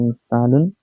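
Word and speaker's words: إنسان: হচ্ছে পরের ধাপ হচ্ছে শব্দটি হচ্ছে ইনসান উচ্চারণ হচ্ছে হচ্ছে ইনসানুন অর্থ হচ্ছে মানুষ ইনসান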